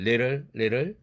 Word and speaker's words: little: little 이것을 little 이렇게 발음하죠. it'll be 이렇게 나갈 때 it'll be, it will be의 줄임말 it'll be 이렇게 성절자음 을 사운드가 있을 때에도 모음이 마지막 두 번째 모음이 없더라도 역시 플랩 사운드가 됩니다.